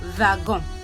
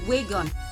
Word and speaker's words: wagon: what is that word it is called vagon V which is called which is Wagon in in English but